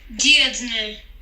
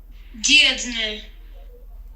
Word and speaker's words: Dirndl: Vamos escutar corretamente a pronúncia em alemão. Dirndl. Traje feminino. Dirndl.